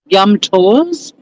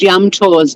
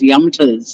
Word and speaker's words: Yum Tours: People didn't pronounce it the right way, and it gave me the shits. I kept being referred to as Yumters, and it really pissed me off.